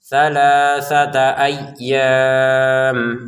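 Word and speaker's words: أَيَّام: Sama dengan annasa ini jangan dibaca nas langsung saja ayyam ynya ditekan ya karena ini tasdid. Jadi jangan sekedar aynya ditekan ayyam. Kemudian panjangnya en harakat karena kita berhenti kalau dilanjutkan jadi dua harakat.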